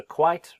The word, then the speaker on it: quite: And whereas she's talking about being a much quieter, so quiet is two syllables. So quite, be careful, this one, quite good. That is a single syllable.